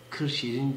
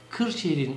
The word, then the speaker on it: Kırşehir: Çünkü Kırşehir'in Osmanlıca'da yazılışı kefle değil, yani normal k ile değil, gafla yazılmakta. Gı diye okunur bizim orada Kırşehir.